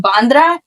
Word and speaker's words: Bandra: and then they brought me to Elco in bandra am I saying it right yeah yeah and